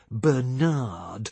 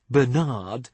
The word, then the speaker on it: Bernard: But, if I say so myself, a rather handsome young navigator from Hackensack, New Jersey, called Bernard, which he pronounced with the emphasis on the second syllable, asked me to dance.